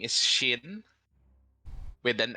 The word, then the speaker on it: Shin: Oh, you may call me Shin. Chin? It's spelled with an I. Finally, nice to meet you, CHIN? Chin? Shin. SH.